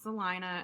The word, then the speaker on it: Salina: called Salina Texas and it is spelled you would think it would be Selena but it's Salina and there's also a